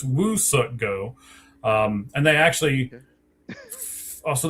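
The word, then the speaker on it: Woo-Suk Go: It's not we suck go, it's Woo suck go.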